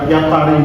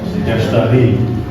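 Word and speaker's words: يشتري: Tadi bacanya apa? Fah kayak yatari ya. Yang benar adalah yas yastari.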